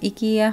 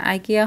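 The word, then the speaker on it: IKEA: তিনটা কমেন্ট এসেছে এরকম, ইটালিয়ানরা ইকে মানে আইকে ই উচ্চারণ করে, তো আইকিয়া হয়তো বা অন্য কোনো কোথাও বলতে পারে, বা সাধারণ আমরা ইংরেজি উচ্চারণে যদি বলি আইকিয়া হয়, আর ইতালিয়ান ভাষায় যদি বলি ইকিয়া হবে আর কি, কারণ তারা আইকে ই উচ্চারণ করে, তো তার জন্যই আমি ইকিয়া বলেছি।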